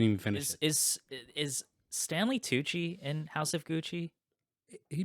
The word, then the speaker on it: Tucci: because it sounds because it rhymes stanley tucci and house of gucci oh my god